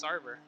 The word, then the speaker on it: Sarver: pronounce it, I'm like, can you say Carver? And they're like, yeah. I'm like, change the C to an S. Now it's Sarver.